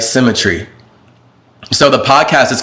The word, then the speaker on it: CymaTree: the screen or something whatever c-y-m-a-t-r-e-e all right symmetry so the podcast is called synchronicity all right but it's spelled cy and then you'll find it when